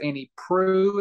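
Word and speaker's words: Annie Proulx: I think it's Annie Prue is how you pronounce it.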